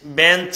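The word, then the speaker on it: bench: মোটামুটি এটা শেষ ভাইয়া এখানে আমি বি ই এন সি এইচ বেঞ্চ লিখলাম আর এখানে আমি লিখলাম এম ও এন এ আর সি H monarch এবার তুমি বলো এখানে সিএইচ এর উচ্চারণ কিভাবে হয়েছে আর এখানে সিএইচ এর উচ্চারণ কিভাবে হয়েছে দেখো তো এখানে বলছে বেঞ্চ এখানে সিএচ এর উচ্চারণ কিন্তু চ এর মতই হয়েছে বেঞ্চ চ এর মত হয়েছে কিন্তু এখানে মনার্ক সিএইচ এর উচ্চারণ ক এর মত হয়েছে এখন চিকুন করে কিউট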